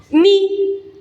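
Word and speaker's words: ν: Tiene el mismo problema fonético que mi. Se pronuncia con Y. Ni.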